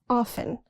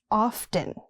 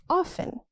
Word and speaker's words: often: often. The T is silent. Not often, it's often.